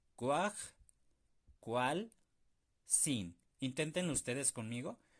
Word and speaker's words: kuajkualsin: En este caso, ¿cómo sería? Cuaj, cual, sin. Son tres sílabas. Cuaj, cual, sin. Inténtenlo ustedes conmigo. Cuaj, cual, sin.